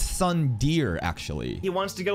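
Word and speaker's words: tsundere: girls in anime tropes the suere no no no sorry you're supposed to pronounce it's Sun Deere actually he wants to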